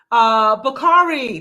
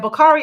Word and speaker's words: Bockarie: And we also have Bakari.